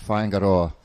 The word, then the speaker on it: Whaingaroa: And Whaingaroa is the Māori pronunciation.